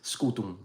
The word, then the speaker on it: scutum: shield in Latin is scutum right now it's written with an M but the m is not fully pronounced it's only nasalized like they do in Portuguese if you do classical so it's it's just